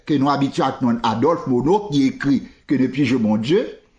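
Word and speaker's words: Monod: n Frédéric Mono n même les mono ça écrit M o N o d généralement prononcer le mono Nord ça pas connais mais obligé apprendre prononcer nom ça premièrement parce que m'habit t sur radio france international prend contact certains de nombre de européens il dit c'est mono pour prononcer tant qu'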